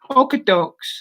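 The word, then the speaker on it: Okotoks: okudo up in canada okee dokes is how you say it you know that's what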